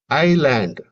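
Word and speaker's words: island: ஆனா ஐ எஸ் எல்ஏ eddy என்பதை ஐலாண்ட் இங்க வந்து அந்த எஸ் வந்து சைலெண்ட்டா இருக்கும். அதேபோல பிரெட் டெட் இதுல வந்து ஏ சைலெண்டா இருக்கும்.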